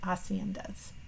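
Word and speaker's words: haciendas: homes or Estates called acendas where they often raise cattle and sheep again notice that we don't say the H sound you know I still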